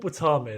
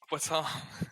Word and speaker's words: Wattam: Google what Watam is. Watam. Google it's spelled WATTAM.